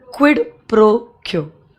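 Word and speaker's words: quid pro quo: Bracket में दो, क्विड प्रो क्यो. स्पेलिंग प्लीज चेक कर लो. क्विड QUID, प्रो PRO, क्यो क्यो ऐसे प्रोनाउंस करते हैं, बट स्पेलिंग QUO है.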